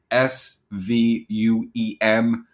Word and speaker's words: Sveum: So it's like Sveum. So the V is silent.